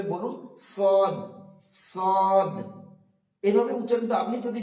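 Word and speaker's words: ص: তারপরে হচ্ছে সদ, সদ উচ্চারণ করার সময় আমরা খেয়াল রাখবো সদটা হবে মাড়ির দাঁতের সঙ্গে জিভের একটা কিনারা লাগিয়ে দিতে হবে। আপনি প্রথমে জিভের কিনারাটা মাড়ির দাঁতের সঙ্গে লাগিয়ে দিয়ে যেভাবে উচ্চারিত হবে সেভাবে বলুন সদ, সদ।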